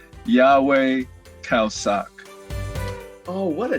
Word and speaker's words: Yahweh Khao Sok: Yes, my name is pronounced Yahweh Khao Sok.